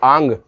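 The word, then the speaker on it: आङ्: निर, दुस, दुर, वी, आंग। इसका विशेष ध्यान देना, इसको बोलते हैं अपन आंग। ग न से अंग की बिंदी जो है वो नाक से उच्चारण आना चाहिए, तो ये होगा आंग।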